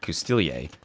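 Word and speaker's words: Coustillier: The French speakers had a big argument over the word Custilier. Apparently the S in it can be silent, and the word can be spelled without it.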